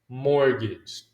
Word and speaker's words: mortgage: Whenever you have three consonants, okay, you have a consonant, you have the letter T, and you have the consonant. Almost always we drop the T. Okay, so the T will be silent. Mortgage.